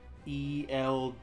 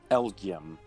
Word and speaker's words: Elgyem: It's like ELGYEM. Okay, I think. It's ELGYEM. There you go. Elgium.